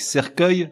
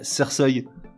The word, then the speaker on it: cercueil: ça changerait la prononciation exemple avec cercueil si on laisse e uil ça ferait Cersei pareil avec le mot orgueil